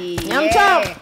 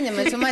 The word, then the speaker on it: nyama choma: Nyama Choma is now officially a word. Kwa English. In English, it's been recognized by the Oxford Dictionary. Nyam Chom.